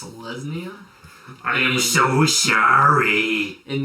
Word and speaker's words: Selesnya: And I'm going to lay a Selnasia Guildgate, and I'm going to pass the turn. It's pronounced Selesnya. I am so sorry. In this neck of the woods, it's called Selesnya.